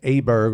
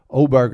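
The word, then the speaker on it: Åberg: think I was think I was pronouncing that Aber Berg all last week but oberg I think is how you pronounce that I mean he's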